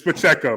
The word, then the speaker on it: Pacheco: like I don't trust myself Pacheco but it's Pacheco man you know so it's a cross between like a wine and a meat um but Pacheco he got the start he runs extremely hard